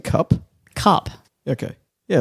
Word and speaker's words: Cap: You're saying cup?